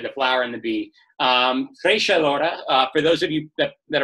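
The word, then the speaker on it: Treixadura: Trishadura, for those of you that are playing along at home, that is the pronunciation, Trishadura.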